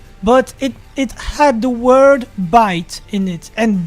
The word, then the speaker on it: bite: it had the word bite in it, and bite in French is pronounced bit, which means dick or